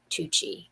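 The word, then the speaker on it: TUUCI: find something like this from a company called tucci and it's called tucci stands for the ultimate umbrella company incorporated so it's spelled t-u-u-c-i and they have umbrellas at that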